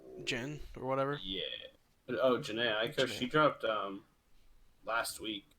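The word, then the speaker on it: Jhené Aiko: It's Janae Aiko.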